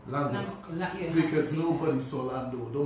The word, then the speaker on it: Lanquedoc: In Dominica, most people know it's Lando. When I travel, it's Lanquedoc. When I will talk a little about when I lived on St. Kitts, that is how I had to pronounce my surname, Lanquedoc.